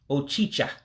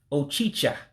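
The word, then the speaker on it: ọchịcha: And so the word for cockroach is Ochicha. Ochicha, cockroach. And please be careful when you pronounce that word, because it can be confused with achicha. Achicha means bread, but ochicha means cockroach.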